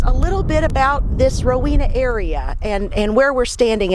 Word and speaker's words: Rowena: It's Marina at Rowena.